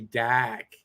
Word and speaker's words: Dach: that's hard to say is he saying doc or dak because he's from boston right so maybe it's it's uh matt's fault and i got the boston way to say kirby dak the right way to say it kirby dak it got the keys in